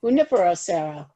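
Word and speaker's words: Junípero Serra: Moore did I say that right I probably butchered it not too bad not to go for a long time Nibiru Junipero Serra yes and I just we're gonna get started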